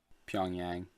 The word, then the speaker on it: Pyongyang: How do you pronounce that? Pyongyang? Pyongyang.